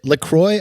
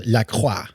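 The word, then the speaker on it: LaCroix: of all is it lroy I thought it was laqua that's what I say well the I think the idea is it rhymes with enjoy is what they say but iy rhymes with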